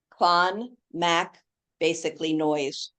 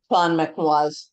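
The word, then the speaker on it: Clonmacnoise: M A C N O I S E clan Mac basically noise. And how did you pronounce it? Clon McNo.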